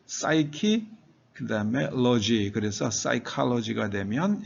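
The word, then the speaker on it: psyche: 푸시케를 영어식으로 발음하면 P가 묵음이 됩니다. 푸가 그래서 시크 시크 사이키 그다음에 로지 그래서 사이로지가 되면 심리학으로 번역이 되죠.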